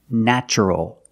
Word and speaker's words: natural: And the adjective, the description, is natural. The first syllable is pronounced with a short A, like black cat, ah, ah, na, natch, natural. Natural is the adjective.